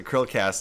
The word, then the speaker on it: Chrillcast: yeah it's it's um it's pronounced the curl cast like the um krill like the whales eat yes yes yeah i